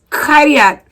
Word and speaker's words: Kariat: I don't even know how to pronounce it, but But no, you gotta roll the Kariat. That's how you say it. okay, Kariat.